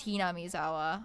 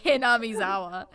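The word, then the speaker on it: Hinamizawa: I looked that one up that one is ham zawa I did look that one up yeah I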